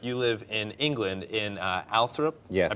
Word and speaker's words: Althorp: Now, you know, Connecticut is fun, but you live in England, in Althorp. Yes. I pronounced that correctly?